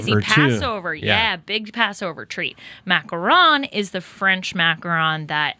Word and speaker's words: macaron: yes you said it right from little blue macaron here they are the vicks welcome thank you thank you happy to be here yeah welcome okay real fast macaroon macaron yes what's the difference so a macaroon